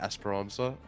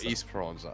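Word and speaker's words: Esperança: of this map but I've been calling it Esperanza um the announcer says welcome to Esperance or east pranza okay what are we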